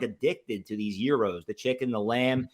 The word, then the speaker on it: gyros: eat enough and I used to call them Gyros little did I know it's actually pronounced Euros we talked about this so shout out to